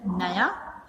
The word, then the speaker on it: knew: तो ये न्यू मतलब नया, ब्रांड न्यू, और KNEW, तो इसको भी के मतलब साइलेंट है, तो इसको भी हम न्यू ही पढ़ेंगे। ओके, इसका प्रोनाउंसिएशन क्या होगा, न्यू ही होगा।